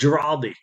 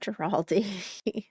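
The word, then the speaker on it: Ghirardelli: It's Giraldi. Not Giraldi.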